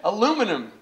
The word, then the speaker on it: aluminium: Alcoa, the church of Bechtel, the church of aluminium, as my European friends pronounce it, aluminum, praise be.